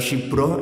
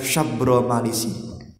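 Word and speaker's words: Syabramalisi: Enten sing maca Syibro, enten sing maca Syabro, enten sing maca Syibro Mulisi. Monggo. Kalau di Hadramaut Syekh Abdullah bin Abu Bakar bil Faqih, guru kami, bacanya adalah Syabro Malisi.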